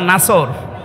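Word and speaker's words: نصر: নসর না নাসর? নুন সোয়াদ র। নাসরুন শব্দের শাব্দিক অর্থ হচ্ছে সাহায্য, আর নুন সিন র নাসর মানে ঈগল পাখি। এই জন্য যারা এই সূরাটা পড়তে গিয়ে সোয়াদ না বলে সিন দিয়ে উচ্চারণ করেন, আপনার কিন্তু নামাজ হবে না।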